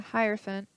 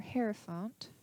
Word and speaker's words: Hierophant: devil energy we have the Hierophant or hare fount whichever way you want to pronounce it this is this is